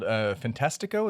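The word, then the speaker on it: Fantástico: Like, not to mention the Brazilian late night TV host on a show called Fantastico.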